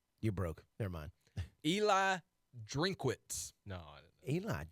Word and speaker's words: Drinkwitz: How do you pronounce his last name? Drinkwitz. Drinkwitz. Drinkowitz. And there's no Kua. I think it's just Drinkwitz. Drinkwitz.